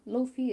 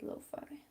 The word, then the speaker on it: lo-fi: was cafe not coffee cafe loafing or lo-fi keep saying it wrong cafe lo-fi i believe that is